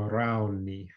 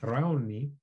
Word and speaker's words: rauni: contemporary alone recipe that we call rauni which is the choceno pronunciation of brownie and raoni it's a dish that